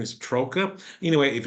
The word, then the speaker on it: Troka: believe how he pronounce his last name is troa anyway if it's not he he'll correct me so Chris welcome to the show Hey Kevin thanks for having me and you nailed my last name man troa that is perfect okay well there a t